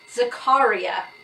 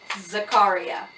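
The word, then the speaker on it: Zakariyya: egg apparently the spelling of pronounce sorry the pronunciation for this spelling is Zakaria that is how this man said to pronounce his name Zakaria now acharya and debra were probably the closest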